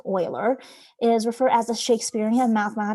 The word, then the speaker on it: Euler: So Euler, I know it kind of looks like Euler, but it's pronounced Euler, is referred as the